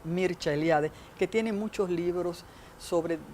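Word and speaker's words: Mircea Eliade: de las religiones mercealiade que se pronuncia en rumano porque es rumano mircha eliade que tiene muchos libros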